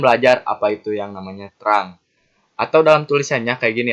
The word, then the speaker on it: trunk: apa itu yang namanya terang atau dalam tulisannya kayak gini ya, Teman-teman. Tunggu kita sini tulisannya kayak gini, trung. Namun dibacanya terang ya, Teman-teman.